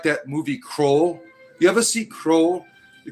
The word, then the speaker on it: Krull: The uh Krull. That's not it. It's not Roll. It's Krull, dammit.